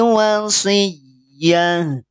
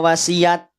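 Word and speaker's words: وصية: Fa'in kana lahu ikhwatun fali ummihis sudusu min ba'di wasiyah. Wasiyatin ketika wakof berubah jadi sukun. Tak marbutoh ketika sukun dibacanya ha. Tidak dibaca wasiat. Kenapa? Karena taknya tak marbutoh.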